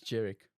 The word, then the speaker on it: Georic: It's Georic.